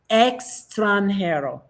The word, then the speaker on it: extranjero: So basically take off the M and it's extranhero.